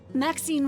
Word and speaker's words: Maxine: Maxine rhymes with queen, after all, and dearest.